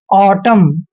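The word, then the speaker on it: autumn: होता है कैसे देखिए एम और एन इकट्ठे आते हैं तो वहां पर एन साइलेंट होता है एग्जांपल लेकर पढ़ते हैं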